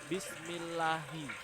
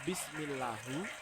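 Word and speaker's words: بسم الله: Di situ dibaca bismillahi. Kenapa dibaca hi pada ujungnya? Kenapa tidak dibaca bismillahu? Kenapa tidak dibaca bismillaha atau bismillahun atau bismillahin? Nah, itu semua yang mempelajari adalah ilmu ilmu nahwu.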